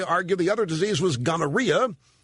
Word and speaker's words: gonorrhea: the other disease was gonorrhea which my health teacher in junior high pronounced gangara question did Columbus give